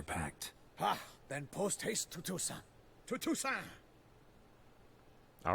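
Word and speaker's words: Toussaint: They keep saying Tusant, which I suppose is proper because that is like the French way of doing it.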